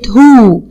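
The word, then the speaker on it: who: الشخص العاقل باسم كلمه هو اه هنلاقي الدبليو مش بنطقها هنطق من عند الاتش اتش او هو برافو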